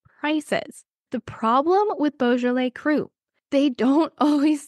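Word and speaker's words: cru: top of our pyramid these are called bjal crew CR you and some say that these have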